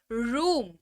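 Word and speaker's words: room: हो रहा है नेक्स्ट फिर है ओ का उच्चारण अगेन यू के तौर पर लेकिन यहां पर ऐसे होगा आर ओ एम रूम ठराव है रूम यानी की कमरा आर ओ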